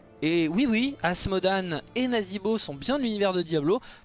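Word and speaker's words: Nazeebo: e e t et donc ça se prononce i en l'occurrence donc nazibo avec le ze pour dire nazibo et en français donc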